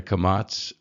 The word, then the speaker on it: kamatz: straight line, and the kamatz, which is the T. And as we talked about, these are both pronounced as ah sounds.